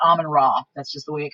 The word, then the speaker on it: Amun-Ra: So you can spell it Ra or Re, it doesn't matter. So Amun-Ra, A-M-E-N Ra, or Amun-Re, A-M-U-N-R-E. It's the same thing. And I just call it Amun-Ra.